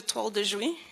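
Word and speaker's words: toile de Jouy: very french french prince it's called a tall dejoy and i've been told i'm pronouncing it correctly by the french ladies um it told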